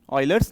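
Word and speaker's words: Euler: known as ऑयलर्स number spelling O से शुरू नहीं होती e से होती है दिस इ proper pronunciation ऑयलर्स number E यू एल ई आर पोफी एस इसको ऑयलर्स पढ़ते स ग्रीक नेम आईपी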